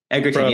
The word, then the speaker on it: Egerton: Taron Egerton. I think that's how you say it. Egerton, yes, from the Kingsman biopic.